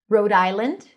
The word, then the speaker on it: Rhode Island: Rhode Island, no S. Road.